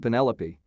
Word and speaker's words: Penelope: a top pick but i pronounced it to rhyme with cantaloupe i remember my cousin